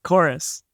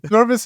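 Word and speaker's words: Chorvs: it's actually chorus chorus the V is pronounced like a u like in medieval English or something so I I picked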